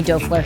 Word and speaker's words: Doerfler: have my friend Tommy Doerfler here with us, and I am so proud of myself because I said his last name right. It is not pronounced the same way it looks, but Tommy owns Lighthouse